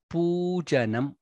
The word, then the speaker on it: Pujanam: Next line, Karomi Narayana Pujanam. Poo is Dirga there.